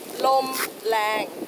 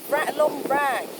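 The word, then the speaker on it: ลมแรง: Lom lang. Lom lang. Well, it's actually rang, so lom rang.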